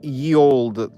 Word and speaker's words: ye: You know, apparently, Y used to be pronounced like so when they say like ye old bar or whatever, or saloon or whatever, apparently it was pronounced the.